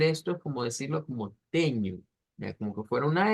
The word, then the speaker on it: tenho: Igual, teño, es con una U que debemos de hacer sonar.